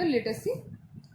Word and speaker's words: latency: Delay भी बोलते हैं, कई लोग लेटेंसी भी बोलते हैं, LATENCY। ओके, बट एन यहाँ पे साइलेंट है, सो we pronounce it एज लेटेसी। Okay, means delay, means लेट। Okay, so लेट से लेटेसी, but some people pronounce it लेटेंसी also.